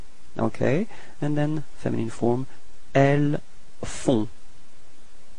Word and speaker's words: elles font: Okay, and then feminine form, elles font. Same thing, on, on, and then final T is not pronounced.